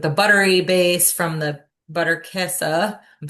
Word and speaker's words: Butterkäse: like more like the buttery base from the butterkäse.